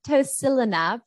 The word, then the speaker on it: tocilizumab: I might need your help pronouncing this. Is tocilizumab an antifibrotic?